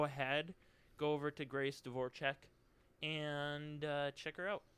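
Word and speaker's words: Dvorachek: Devore check yeah yep it's Grace dvorchek yeah it's pronounced different than that oh it is okay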